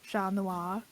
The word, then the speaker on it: Chat Noir: I just physically cannot pronounce it any way but the French way. It's a failing of mine. I can try it in the French way, Chat Noir.